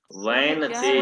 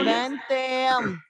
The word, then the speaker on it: वैनतेय: तो वैनतेय शब्द है इसमें, आप उसका उच्चारण सही नहीं कर रही थी। वैनतेय, वैनतेयम। हाँ वैनतेयम।